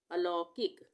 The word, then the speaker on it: अलौकिक: अद्वैत अलौकिक अलौकिक अलौकिक इसको हम इस तरह से पढ़ते अल उसके बाद किक अलौकिक आहवान आहवान यहां पर